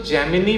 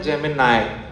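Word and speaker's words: Gemini: यूज़ किया है ना एक तो जैमिनी प्रोनाउंसिएशन नहीं होता है वो क्या होता है जेमिनाई जी इ एम आई एन आई है ना जो गूगल का ए आई है उसका प्रोनाउंसिएशन क्या है जैेमिनाई जेमिनाई इज अ कॉन्स्टेलेशन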